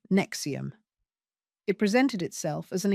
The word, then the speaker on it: NXIVM: In 2011, Catherine brought her daughter India, then 19, to a workshop in California hosted by a company called NXIVM, pronounced like Nexium.